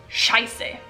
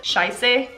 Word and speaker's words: Scheiße: If you can hear the difference between the Swiss German pronunciation and the German pronunciation, there's a slight difference. Scheiße, Scheiße. Scheiße, Scheiße. It's a little E part at the end that has a slight pronunciation change.